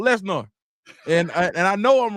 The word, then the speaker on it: Lesnar: C Right Said dude I can't let you pronounce Brock name like that is Brock Les I refuse I'm not gonna say it Lesnar that's brought Lesnar and and I know